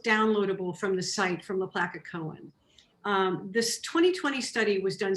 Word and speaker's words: LaPlaca Cohen: That is done by a company called LaPlaca Cohen. It's spelled L-A, capital P-L-A-C-A.